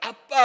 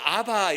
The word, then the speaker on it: 아빠: 이게 옛날에는 아바 이렇게 불렀는데 미국 사람들은 아빠라고 발음을 못합니다. 미국 사람들은요 아빠라는 거 발음을 못해요. 그러나 저 이스라엘 사람들은 발음을 하죠. 우리나라도 발음을 하고. 그래서 미국 사람들은 아바 이렇게 바뀌어요. 미국 사람들은 안나 이렇게 발음을 못해요. 아나 그러죠. 아나. A-N-N-A 이러면 아나 이렇게 해요. 그러나 우리는 안나 이렇게 부르잖아요. 미국 사람들은 자음이 두 개 있어 발음을 못해요. 그러니까 아바라고 부른 거예요. 지금은 뭐예요? 이스라엘 소리 나는 대로 읽으면 아빠예요.